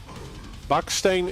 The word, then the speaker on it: Baksteen: So um like Bakane is the Dutch pronunciation of his his name.